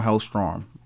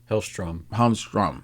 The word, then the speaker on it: Hellstrom: Is it Hellstrom or Hellstorm? Hellstrom. Yeah. But I think some people do spell it differently. I think even some writers have spelled it as Hellstorm.